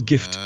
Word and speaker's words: GIF: hey did you put a tid and it's gift it's not pronounced jiff so anyway gift toaster that's only for iOS